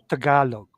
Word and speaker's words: Tagalog: You speak Tagalog? I don't know. Yeah. I think it's in I as well. speak Tagalog. It's Tagalog, pronounced as Tagalog, Tagalog, Tagalog.